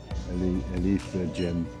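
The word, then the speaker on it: Affligem: Yeah, that's how you pronounce it. Alifa gem.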